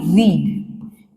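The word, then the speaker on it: read: एक जैसी तो है स्पेलिंग। यस। रीड के केस में क्या है? स्पेलिंग एक जैसी ही रहती है लेकिन प्रोनंसिएशन चेंज हो जाता है। हम इसको तो पढ़ेंगे रीड।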